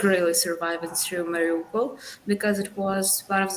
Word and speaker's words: Mariupol: And Kate is one of the story heroes, and she is from Morpolio. I want to say it right, Mariupol.